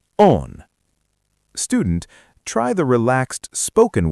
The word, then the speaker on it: oon: Mina becomes ma. Olen becomes on.